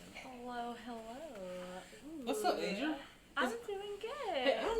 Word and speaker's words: Azure: What's up, Azure? I'm doing good. Hey, help me out with your goddamn name. It's Azure, right? Yeah, it's Azure, A-Z-U-R-E.